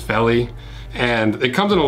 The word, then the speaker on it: Vellie: The model is the Vellie, but it's pronounced Vellie.